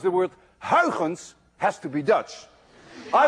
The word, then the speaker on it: Huygens: we now know as Huygens principle. At least you call it Huygens principle. But we don't call it Huygens principle. You see, this sound, UY, is pronounced in Dutch as ui.